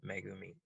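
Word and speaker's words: 恵: three uh three hiragana it's it's pronounced megumi beautiful does anyone ha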